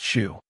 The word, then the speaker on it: SHU: This is Pelican Bay State Prison Security Housing Unit, the Shu, pronounced Shu.